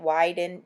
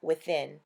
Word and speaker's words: Within: how to pronounce that I was calling it widened WI bi in when we caught the rep later to give our testimonial she told me that it was pronounced within I know CBD is